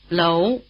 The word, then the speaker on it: Lóu: Lóu, Lóu, Lóu The diphthong "ou" is spelled OU, as in "Zhou Enlai", in Chinese: Zhōu Ēnlái, Zhōu Ēnlái Try repeating.